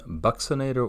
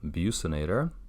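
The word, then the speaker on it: buccinator: the zygomaticus minor we have the bucks inator or abuse inator however you would like to pronounce it I've heard it either way yeah if the sphincter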